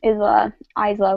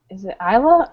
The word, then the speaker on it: Isla: Well, it's like island. You don't pronounce the S.